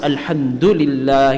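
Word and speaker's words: الحمد لله: it doesn't really have a meaning al-hamdu it's pronounced alhamdulillah here of banana and I mean one is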